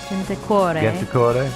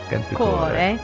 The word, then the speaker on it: Gentilcore: There were two teenagers, Stefania Pettini and Pasquale Gentilcore. I think is how it's pronounced. Gentilcore. Gentilcore. The third syllable, second syllable emphasis. Gentilcore.